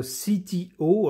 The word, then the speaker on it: CTO: dit la start-up française CTO alors je le prononce à l'américaine parce que visiblement le nom est un nom anglais constellation technologies and operations